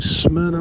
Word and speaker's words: Smyrna: the least and now just turning on to Smyrna Road that's how you pronounce it SM yr na a smna it's